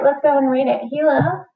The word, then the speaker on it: Gila: Gila, pronounced Gila, is the largest lizard native to the United States.